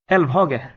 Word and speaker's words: Elvhage: Elvhage. Elvhage. Yeah, it's good pronunciation.